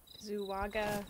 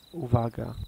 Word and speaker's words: Uwaga: Zuwaga beware? Or how do you pronounce the big one? How do you pronounce the big one? Oh, Uvaga. Uvaga.